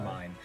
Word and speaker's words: Carmine: Carmine. It's pronounced phonetically. It's just car and then mine.